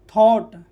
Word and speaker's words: thought: Silent. यहाँ THOUGHT थॉट, ठीक है।